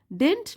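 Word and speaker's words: didn't: हैड few friends and डिंट like spending time in idol chat इसको हम डिंट पढ़ते हैं सेकंड डी जो होता है वो साइलेंट होता है डिंट लाइक स्पेंडिंग टाइम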